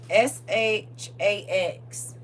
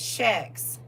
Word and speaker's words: Shax: But they spell it like how we used to say about his shoes, Shaqs. I got me some Shaqs. SHAX is the name of a demon, y'all.